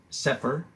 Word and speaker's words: Cepher: etc this collection of writings in the etc pronounced at separ is a restoration of the books traditionally recognized